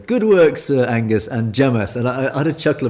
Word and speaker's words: James: It's the Curry House sketch, or the Game for an English, and the waiter is called James, and he is pronounced Jamas.